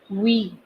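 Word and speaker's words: oui: You can also say we, O-U-I, which means yes, O-U-I, we. So this is one more word that I'm teaching you, O-U-I, if you write. It is pronounced as we and it means yes.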